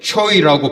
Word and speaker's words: 채: 왜냐하면 이곳 필리핀 선교지는 채를 발음할 때 초이라고 발음을 하는데 그곳에서 초이라는 뜻은 잘생겼다, 똑똑하다라는 의미입니다.